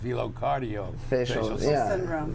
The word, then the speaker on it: velocardiofacial syndrome: Well, pronounce it correctly, since I didn't. It's velofacial cardio syndrome. VCFS, velocardiofacial syndrome.